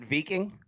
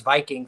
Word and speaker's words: Viking: You pronounce it veing. Yeah. Yeah. No, no, that's a good job, man. I like it. Yeah, I had to humble myself after thinking it was Viking for many years uh recently.